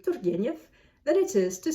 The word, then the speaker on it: Turgenev: And Russian is rather straightforward as opposed to English or French. What you see is what you get. And the R's in Russian are rolled. I can roll an R. Turgeniev. It's not any more difficult for me to say Turgeniev than it is to say Turgeniev.